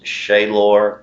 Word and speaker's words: Shalor: My actual name is Shaylor III, which I say Shaylor. It's spelled Shalor, but if you ask my dad what his name was, it's Shaylor.